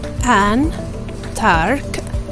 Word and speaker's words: Antarctica: Antarctica, pronounced as Antarctica. Don't miss the C letter or the K sound in the middle, okay?